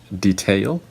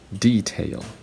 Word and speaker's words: detail: so Americans would say detail and British people would say detail so again for the word detail the the last the second syllable is stressed the first one is unstressed and for detail that's